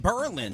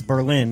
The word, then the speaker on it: Berlin: It's Berlin, not Berlin.